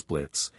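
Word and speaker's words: Blitzø: glanced at his Boss Blitz the O is silent walking inside with a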